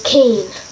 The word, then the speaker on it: cane: Italian is cane.